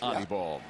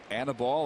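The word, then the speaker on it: Aníbal: Which is why you correctly pronounce Anibal. Yeah. Not Annabelle, or I'd even heard Annabelle. That's got to be the worst mispronunciation.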